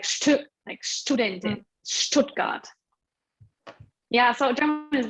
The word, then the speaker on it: Stuttgart: Stuttgart. Yeah, Stuttgart, Student. ST, yeah. Yeah, so there are some tricky pronunciation combinations.